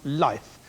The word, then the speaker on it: LIFFE: In the world of finance, what is the body abbreviated as LIFFE, pronounced life, concerned with?